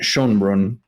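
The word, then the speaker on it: Schoenbrun: to get this right Jane Shon Brun I believe is how you say her name the director one of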